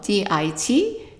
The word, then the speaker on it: dit: And this time, instead of having an S, we have a T. But it doesn't really matter because, right, it's not pronounced anyway. So the pronunciation of DIT is the same as DIS.